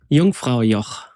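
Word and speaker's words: Jungfrau: How do you pronounce that again? Yungfra.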